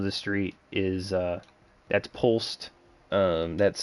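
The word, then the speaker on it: Polst: Wall will quickly say uh that's Pulse.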